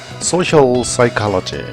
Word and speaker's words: social psychology: Social psychology, social psychology. P가 묵음이에요.